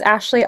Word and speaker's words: Aisley: So, my name is Ashley, and the word Ashley is spelled like a i l e y, but pronounced a like as if it was spelled a s h l e y.